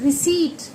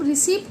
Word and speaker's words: receipt: एक word रिसीट, तो इसे हम रिसिप्ट नहीं बोलते, इसे हम रिसीट बोलते हैं। वहीं पर मैंने फिर अपने बेटे को बताया कि देखो पी साइलेंट है यहाँ पर, रिसिप्ट नहीं बोल रहा, वो रिसीट बोल रहा है। क्यों? क्योंकि पी के बाद टी है।